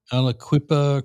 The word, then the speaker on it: Aliquippa: Aliquippa Quip Pennsylvania, right?